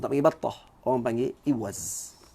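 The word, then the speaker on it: إوز: Orang panggil iwaz. Ya, iwaz, bukan iwaz. Iwaz. Syaddah pada zaid.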